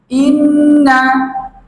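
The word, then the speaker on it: إِنَّا: করে 10 বার বলুন এই শব্দের উচ্চারণ হচ্ছে ইন্না ইন্না ইন্না অর্থ হচ্ছে নিশ্চয়ই ইন্না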